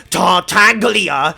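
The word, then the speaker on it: Tartaglia: are very angry like how can you not pronounce tartanglia with the hard g now i know you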